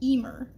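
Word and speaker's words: Emer: over here we have I've learned it's pronounced EMR e m e r is an Irish name and uh she's the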